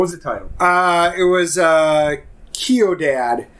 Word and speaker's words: Ciudad: C-I-U-D-A-D. So, Sawadado? No O at the end. Ciudad. Ciudad. Ciudad.